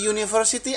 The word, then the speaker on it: university: Jadi juga tergantung pengucapan. Karena university, U itu adalah semi-vowel ya, semi-vowel di sana. Bukan vowel, kalau dalam segi pengucapan dia semi-vowel namanya. Oke.